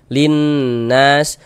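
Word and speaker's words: لِلنَّاسِ: Jadi cara membacanya itu dari li langsung masuk ke huruf nun yang ada tanda bacanya ini.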